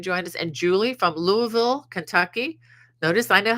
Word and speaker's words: Louisville: glad you can join us and Julie from Louisville Kentucky notice I know how to say that I have really dear friends living in Louisville not Louisville but Louisville Kentucky I'm told that's how you know if